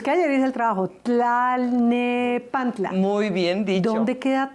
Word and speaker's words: Tlalnepantla: Yo traté de pronunciar de corrido. Decorrido. Tlalnepantla. Bravo. Talne, pero es que ayer hice el trabajo. Tlalnepantla.